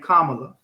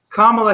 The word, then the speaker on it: Kamala: alpha kappa alpha who kamala that's how you say her name kamala it's like pamela but palm but with the k kamala harris was a member